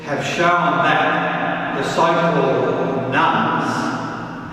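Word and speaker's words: nones: National barometers like the Australian Bureau of Statistics census have shown that the so-called nuns, and that's not nuns as in a Catholic nun, that is spelled N-O-N-E-S, the nuns, those having no religious affiliation, continues to grow from one census to the next.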